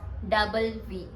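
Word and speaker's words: double vé: यू add another वी टू इट it become डबल वी एंड दैट्ची एज डबल means डुप्ल वी means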